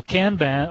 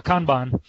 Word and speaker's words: Kanban: And also Kanban, or Kanban, some people say Kanban, but the right pronunciation is Kanban, is that is an add-on on top of what you can do with Scrum.